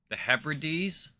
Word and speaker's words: Hebrides: Okay, so that's how you say it. The Hebrides? The Hebrides? Is that what he said? The Hebrides. The Hebrides. Okay. So I was saying it wrong.